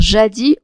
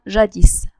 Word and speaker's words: jadis: moment et jadis a parfois on peut prononcer le s comme on peut le laisser mouillé on peut dire jadis ou bien jadis alors pour le temps